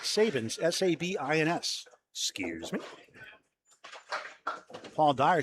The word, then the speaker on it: Sabins: It's pronounced Sabins.